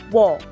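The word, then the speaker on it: ㅝ: The next one is wo.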